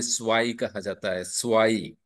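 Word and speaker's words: zwei: को टू को या दो को जर्मन में स्वाईन में दो को स्वा ई कहा जाता है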